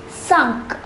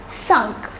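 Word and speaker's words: cinq: next set of numbers the number five is pronounced as sunk repeat with me sunk the number six though spelt the same as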